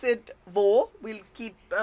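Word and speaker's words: वह: By the way, we pronounce it wo, but we write vah for singular and ve for plural.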